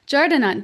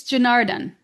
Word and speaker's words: Janardhan: Did I say it right? It's Janardhan. Is that it?